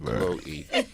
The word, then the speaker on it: Chloe: It's Chloe. Chloe. Chloe. Really? It's Chloe. Yeah, see, Chloe. that's it. Chloe. Yeah, well, there's an E on the end of that.